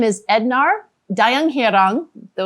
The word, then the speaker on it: Ednar: case i said it wrong yeah i am ednard okay did i did i say it yeah